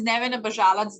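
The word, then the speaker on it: Neven Abazalac: so my name is nevin abbajala that's how we pronounce in my language so it's n-e-v-e-n-a-b-a-z-a-l-a-c you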